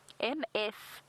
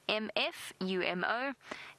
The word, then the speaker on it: Mfumo: But the male's name, M-F-U-M-O, for our new viewers, M-F-U-M-O, Mfumo. Mfumo. Mfumo is the name of this particular male. So Mfumo, the authority.